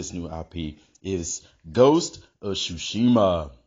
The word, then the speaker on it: Tsushima: The name of this new IP is Ghost of Tsushima. Yes, the T is silent.